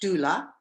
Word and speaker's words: doula: death doula exactly well it's a certified it's pronounced doula and it's a certified professional so their goal